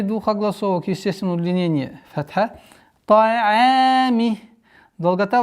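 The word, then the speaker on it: طعام: обратите внимание, одна из самых распространенных ошибок это твердое произношение айн. Та'ами. Та'ами. Айн мягкий звук, и поэтому категорически запрещается айн, подчинение айна твердости в твердости к звуку та.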